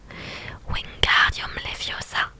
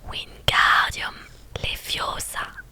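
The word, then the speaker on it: Wingardium Leviosa: beaucoup plus de chance wingardumiosa s'écriait-il en agitant ses long bras comme un moulin avant tu ne prononces pas bien L il faut dire wiardium les fiosa en en accentuant bien le G tu n'as qu'à le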